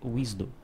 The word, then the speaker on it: WSDL: a linguagem wsdl né a pronúncia é isdo tá então quando você vê wsdl se você vê alguém falando isdo ele está se referindo aí a wsdl o processo de publicação